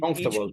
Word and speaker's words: comfortable: People seem very comfortable with each Comfortable. other. It's The word is comfortable, okay? The pronunciation.